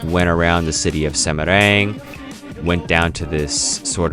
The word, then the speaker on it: Semarang: It looks like Semarang when it's spelled out, but I do believe it's pronounced Semarang, one of the main cities in Central Java.